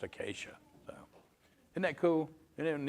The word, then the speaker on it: Achaia: It's actually Achaia, but it's pronounced Acacia.